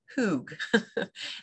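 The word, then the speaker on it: hygge: it it looks like hide but it's actually pronounced hoog this is a Danish concept and it has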